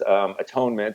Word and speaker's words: atonement: And then there's atonement, or as you correctly pronounced it, at-one-ment.